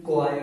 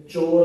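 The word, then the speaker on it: choir: याद रखना, इसका प्रोनाउंसिएशन क्वायर है। इसे चोर मत पढ़ लेना, छोरे मत पढ़ लेना, इसको कहते हैं क्वायर।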